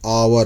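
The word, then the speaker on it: hour: यहाँ देखिए आवर, यहाँ एच साइलेंट है, ये आवर हुआ, आ गया, इसीलिए एन आवर हुआ।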